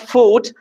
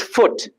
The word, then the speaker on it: foot: It's not food. It's foot. My right foot. It's foot. Short oo sound.